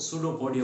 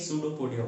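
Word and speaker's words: pseudopodia: False feed, false feed यानी एक तरह से जिसको सूडोपोडिया बोलते हैं। स्टूडेंट्स ध्यान रखिएगा, पी से स्पेलिंग स्टार्ट है, लेकिन पी साइलेंट है, इसलिए सूडोपोडिया बोलते हैं इसको।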